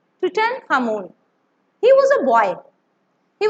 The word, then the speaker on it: Tutankhamun: You have to pronounce with me. Tutankhamun. Tutankhamun.